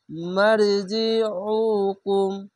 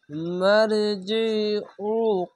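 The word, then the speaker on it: مَرْجِعُكُمْ: সুম্মা এখানে ওয়াজিব গুন্না, সুম্মা ইলাইয়া ইলাইয়া মারজিউকুম মারজিউকুম, এটা আইন পেশ উ এরকম উচ্চারণ অবশ্যই করবেন।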